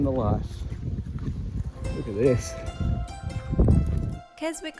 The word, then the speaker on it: Keswick: life look at this Keswick island is actually pronounced Keswick although we didn't know it at the time it's just one of